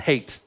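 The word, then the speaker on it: Haidt: people called lukanov and hate um and his name is spelled h AI DT not ha which is confusing when you're talking about hate but it's a it's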